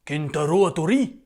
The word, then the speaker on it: Kentaro Hattori: Kentaro Hattori. Oui, ça se prononce comme ça, oui.